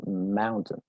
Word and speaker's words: mountain: La pronunciación correcta es mountain, mountain. Si te das cuenta, si te fijas y pones mucha atención, esa segunda sílaba, ¿sí? Casi que no, desaparece, casi que no existe, ¿sí?